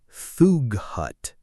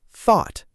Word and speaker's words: thought: Some learners try to pronounce every letter in words like thought or through, really struggling with that g h sound. Oh, this is so common. People say "thoog hut" instead of just thought.